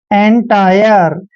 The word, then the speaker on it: entire: ENTIRE, ई का उच्चारण हम ए करते हैं, ठीक है, और एन को हम न पढ़ते हैं और टी का उच्चारण ट करेंगे और IRE को आयर पढ़ेंगे, ऐसे आयर, ठीक है ना।